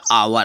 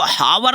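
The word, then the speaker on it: hour: एच ओ यू आर आवर आवर means घंटा होता है उसको हावर नहीं पढ़ेंगे कुछ बच्चे हावर पढ़ते हैं तो हावर पढ़ोगे तो गलत है आज के बाद अगर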